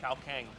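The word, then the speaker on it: ข้าวแกง: we're going to go to how do you pronounce that cow Kang cow Kang actually cow is rice Kang is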